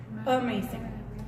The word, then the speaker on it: amazing: Amazing. Porque no es amazing, ¿ok? It's ahí not, es donde la A se oye como E. casi como E, pero no es exactamente, por eso la E al revés, ¿verdad?